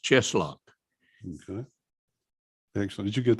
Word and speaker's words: Tscheschlok: It's pronounced Cheslock.